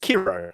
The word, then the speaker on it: Kiro: Beckman in the, I believe it's pronounced Kiro, not Cairo. Cairo, I believe, is the place in Egypt.